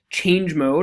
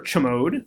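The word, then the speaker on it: chmod: command line command more use a command called change mode or cho mode c'mon is it's pronounced in different ways which is basically we're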